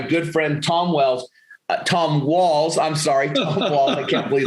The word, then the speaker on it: Walls: thanks rick and you're if i had a dollar for every time somebody mispronounced that name and made it wells i'd be ready to retire a lot earlier so yeah my name is tom walls i'm an american by